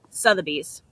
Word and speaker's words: Sotheby's: Sotheby's.